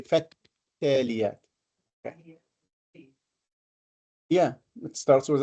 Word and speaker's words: فالتاليات: فالتاليات ذكرى. التاليات. We don't say فل, we say فالتاليات.